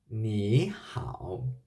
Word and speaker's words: 你好: the pronunciation part good me how which means hello there is the rules in pinyin if you can find a two ceruton in a chinese word the first serotonin will sounds like the second tone